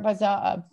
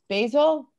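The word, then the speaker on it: Basel: to be there during art bazaar basil yeah basil that's how you say it right basil yeah it was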